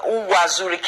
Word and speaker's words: Uwazurike: I don't know if I pronounce it. Uwazurike, yes, that's his name.